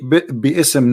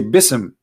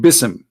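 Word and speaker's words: بسم: say you see here you didn't say be ISM no more here they say BISM so it's not an error scribe it's an error in the pronunciation are you getting my point because they are not saying when they recite the Quran they don't say B Issam and it's written wrong no they recited BISM and i will tell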